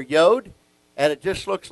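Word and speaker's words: יוד: what that means and it's pronounced yod and it has the y sound so we're going to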